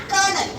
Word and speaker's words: colonel: Now, how we are going to pronounce that word as a kernel?